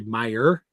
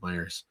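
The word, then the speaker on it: Meijer: It's actually Meyer, but if you're from Michigan, you always pronounce the S, the invisible S on the end of Myers.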